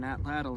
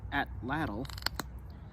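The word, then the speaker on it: atlatl: to throw on an atlal and hunt with I was recently told that the correct way to pronounce atlal is ATL and that's going to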